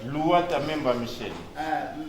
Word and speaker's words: Luhata Memba Michel: Ndeko maître, comment le nom est prononcé? Louata Memba Michel.